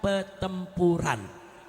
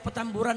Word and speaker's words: Petamburan: Peturan, bukan petempuran.